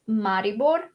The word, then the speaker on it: Maribor: in um in the game called maribor um that's how you say it um because it's slovenian it's a it's a